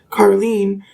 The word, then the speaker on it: Caroline: I recall someone with a name spelled exactly the same but pronounced Carlen among those I once called family who I haven't even seen in well over a decade.